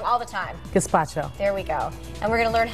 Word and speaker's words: gazpacho: Gazpacho.